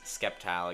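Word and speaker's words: Sceptile: Skeptile again. Well, yeah. That's how you're supposed to pronounce it.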